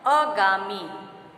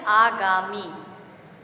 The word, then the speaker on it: आगामी: अगला शब्द हमारा है अगामी। अगामी, जबकि शुद्ध उच्चारण इसका है आगामी।